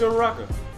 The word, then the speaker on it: Uraraka: No, it's Uraraka.